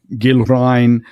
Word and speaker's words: Gilrain: So Gildor, Gilrain, Osgiliath, they all begin as in the English guild.